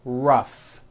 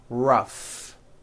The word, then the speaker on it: rough: And the last word, rough. Notice the GH combination in that word, rough.